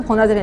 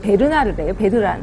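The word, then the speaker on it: Bernard: 버나드를 했는데 그게 아니라 베르나르래요. 베르나르.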